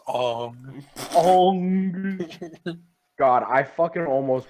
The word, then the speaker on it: Aang: Aang. Although his airbending skills are great, he has a lot to learn before he Keep I'm sorry. watching me in the shower. You pronounced his name wrong. It's Ong.